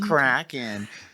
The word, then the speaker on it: Kraken: It's Norwegian. It's pronounced Kraken.